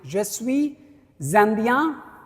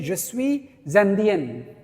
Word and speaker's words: je suis indien: Example, je suis indien. If you are a boy, तो you have to use indien. Je suis zandien. Or if you are a girl, you have to say je suis zandienne, which means I am Indian.